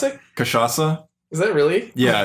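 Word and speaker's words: Cachaça: It's a song from DDR Supernova, and How do you pronounce it? Cachaca.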